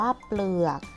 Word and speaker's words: เปลือก: เกลือก ปล เรือง เกาะ เปลือก มี พยัญชนะ ต้น กี่ ตัว คะ 2 ตัว ออก เสียง พร้อม กัน คือ ปอ ปลา และ ลอ ลิง อ่าน ว่า เปลือก คำ สุด ท้าย เพลง พล.ร.อ.